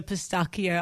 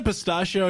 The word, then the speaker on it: pistachio: Is this a bad time to admit that I used to try and order pistakio ice cream? Get out. Really? Isn't a pistachio like a um Well, how do I get around this one?